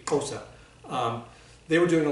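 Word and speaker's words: Xhosa: kosa culture um and to pronounce that correctly it would be kosa um they were doing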